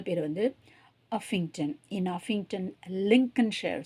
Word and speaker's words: Lincolnshire: லிங்கன், சிஓஎல்என், அந்த இருக்க இந்த ரெண்டாவது எல்லை வந்து உச்சரிக்க மாட்டோம். லிங்கல்னு ஷேர்லாம் சொல்லக்கூடாது. லிங்கன்ஷயர், லிங்கன்ஷயர். ஷாயர்னும் சொல்ல மாட்டோம். லிங்கன்ஷயர், லிங்கன்ஷயர்.